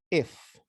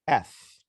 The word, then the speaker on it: F: need to focus on the letter f it's not if okay f the same thing happens